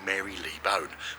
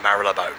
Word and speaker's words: Marylebone: the best bits from Mara bone now if you look at Mara bone you're looking at it and go Mary Lee bone which a lot of way there a lot of way that people pronounce it but it's not welcome to Mara bone and enjoy so we're going